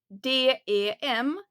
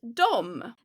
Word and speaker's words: dem: And here again, you see the spelling is D E M. But we don't pronounce it pronounce it dem. So try to not get confused between and dom. They are spelled differently but the pronunciation is the same.